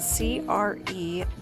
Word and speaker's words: crewel: That's spelled C-R-E-W-E-L, pronounced Crewel.